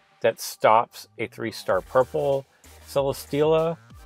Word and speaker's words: Celesteela: stops a 3-star purple Celesteela. So I want to say it's like Celestial, but it's Celi like Celestial and Stela, so it's a play on words.